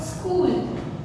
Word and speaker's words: school: K sound, school.